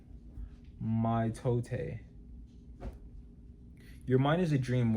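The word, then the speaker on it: mitote: Your whole mind is a fog which the toll text called a mito pronounced mto mto.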